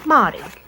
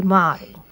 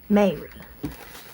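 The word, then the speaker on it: Māori: But she says mi. And so this word right here is going to be motti. Her daddy, who is the line, the descension of the motti, he pronounces it Mary, but um Lucy says it's because he can't roll his ars. So, I'm going to try to do it the way Lucy does it and say mi.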